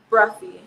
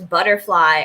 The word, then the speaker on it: Bruffy: pronounce your last name bruffy saber saber bruffy awesome i don't know if you remember i messaged you but i was like i've been pronouncing your last name as butterfly or like seeing it